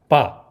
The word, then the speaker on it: 爸: of the Chinese word b is formed by the unvoiced initial b and the fourth tone simple final a it's pronounced B however